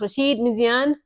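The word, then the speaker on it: Rachid Méziane: The name I believe is pronounced Rasheed Misian.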